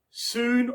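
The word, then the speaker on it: Sune: cleric of the Goddess soon or sun I've heard it pronounced both ways who is the goddess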